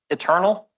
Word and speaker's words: Iternal: So it's eternal like iterate eternally.